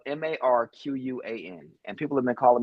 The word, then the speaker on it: Marquan: My name is Marquan. But people have been calling me Marquain, Marquine, Marcus, anything but Marquan my entire life.